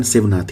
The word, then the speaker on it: शिवनाथ: जो एडवांस किताबें हैं थोड़ी सी, मैंने उनमें देखा कि शिवनाथ वर्ड यूज करा है रादर देन सेवनाथ। बात एक ही है, उच्चारण शिवनाथ ही है।